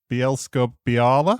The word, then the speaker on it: Bielsko-Biała: I'm going to have a go at pronouncing it. Bielsko-Biała.